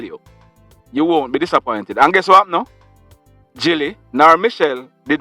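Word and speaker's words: Gill: westmoreland we had said gili but we were wrong even though it is spelled g-i-l-l it is pronounced jilly so it's jilly and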